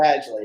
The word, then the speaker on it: Badgley: again and get triggered michael badgley would be the name michael badgely there we go because you got you